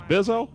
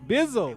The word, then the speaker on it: Bizzle: You say his name was Bizzo? Bizzle.